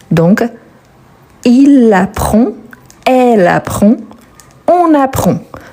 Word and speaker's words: apprend: aura le D donc il apprend elle apprend on apprend donc le D on ne le prononce pas mais on l'écrit le S c'est la